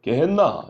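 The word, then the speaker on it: γέεννα: 이 발음상 히브리어는 게벤 흰놈인데 이 발음을 헬라어식으로 바꾸면 게헨나 이렇게 되는 겁니다.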